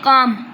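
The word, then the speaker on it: calm: तो फर्स्ट वाले में काम एल साइलेंट है इसका मतलब है पीसफुल।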